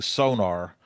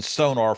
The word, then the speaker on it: Sonor: even when I'm using, when I'm pronunciating the brand Sonor when it comes to the drums, obviously, when I'm around people that are saying sonar feels right. I mean, I've been saying sonar for 30 years, and so saying sonar